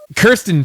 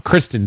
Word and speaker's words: Kristen: look Oscar worthy yeah I think I said her name wrong Kristen Stewart yeah yeah I said Kiren like Kiren like like Kirsten dun Kristen Stewart it was a terrible